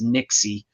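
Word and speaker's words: Nixey: to say her name was Catherine Nix but it's Nixie uh or Nike n-i-x-e-y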